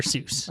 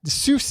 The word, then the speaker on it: Seuss: He he changed the pronunciation. Oh, but it is to be associated with Mother Goose. Dr. Seuss.